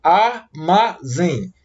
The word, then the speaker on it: armazém: Olha, a palavra armazém. Divida a palavra armazém em 3 sílabas. Armazém. E a sílaba que eu pronuncio com mais intensidade é a sílaba zen.